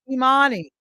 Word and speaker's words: Imani: And then the seventh principle, and it's pronounced Imani.